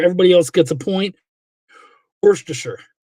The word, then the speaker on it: Worcestershire: Worcestershire. That's how you say it.